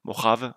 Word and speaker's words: Mojave: Donc, nous avons, donc c'est Mojave, vous voyez ça se prononce comme ça, Mojave, bref, voilà, ici, en fait, ça vous permet,